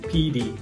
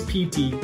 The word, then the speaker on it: Petey: Pow Pow, Beddy, Beddy, Petey. This last one, don't be tempted to say PT, okay? Nobody says PT, we all say Petey. Even though it's spelled with a T, we actually say D sound, so don't get trapped.